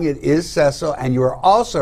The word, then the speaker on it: Cecil: the zimbo lion's name was cecil pronounced for the short e i guess rick watched